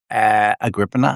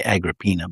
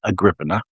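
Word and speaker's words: Agrippina: Agriina, I think that's how you say it. I used to say Agraina, but I know that's wrong. Agriana.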